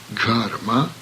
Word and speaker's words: Gharma: In Sanskrit there is also an aspirated hard G sound. The sound is also present in English, as for instance in the words leghorn, dig hard. Gharma means warmth of the sun, sunshine.